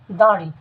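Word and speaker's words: দাঁড়ি: শুরুতে যদি আমরা দাড়ি শব্দটি দাড়ি শব্দটিকে বিশ্লেষণ করি তাহলে আমরা জানতে পারব এই শব্দটির উচ্চারণ হচ্ছে দাড়ি অর্থাৎ শব্দটির উচ্চারণ হবে দাড়ি।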